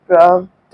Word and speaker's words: প্রাপ্ত: শেষের অবধ উচ্চারিত হয় যেমন প্রাপ্ত কে আমরা তয় ওকার দিয়ে প্রাপ্ত বলি কোন বর্ণের শুরুতে জফলা